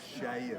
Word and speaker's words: Seir: You pronounce it Seir. You say Seir. Seir. Which is Shair. Shair.